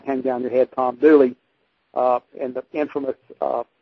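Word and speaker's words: Dula: of marrying a certain Thomas C Duan actually pronounced dly as in the song hang down your head Tom dly uh and the infamous uh song that that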